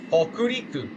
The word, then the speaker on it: Hokuriku: How do you pronounce this? Google Translate. Help me out here. What? 北陸新幹線 Hokuriku.